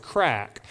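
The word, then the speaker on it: craic: for having fun and it's pronounced C R A I C and it's pronounced crack. So, in Ireland, I say, "Hey, after church, Pastor Swan and I, we're going to go have some crack.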